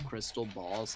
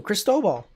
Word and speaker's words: Cristobal: pronounce the l too cristobal well there is a ratio again probably not oh well there's no l in the middle it's crisp oh ball rice dough ball um funny that the